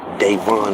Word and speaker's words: Davon: Davon is how you pronounce it.